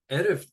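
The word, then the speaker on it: ערב: For this class, I'm going to be saying shalom, erev tov. So erev, we've learned ayin is a silent letter, and so it begins with the vowel sound. E, re, v.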